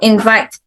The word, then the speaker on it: invite: and then different first syllable and then two syllable verbs so invite so where what's the stress invite invite mode